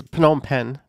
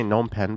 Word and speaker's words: Phnom Penh: So here's Phnom Penh, the main place. Some people say Phnom Penh, but you actually pronounce the P if I'm not mistaken. But usually the P is silent.